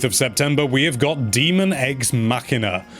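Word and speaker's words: Daemon X Machina: September we have got demon eggs machina or daemon ex machina as some people are pronouncing it hand at this point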